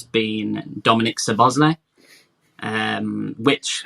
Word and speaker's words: Szoboszlai: sir Bosley um which how many times are we going to pronounce that differently between us I mean I've heard a lot of people say so Bosley so Bosley you said no I thought it was Summer's way well there's going to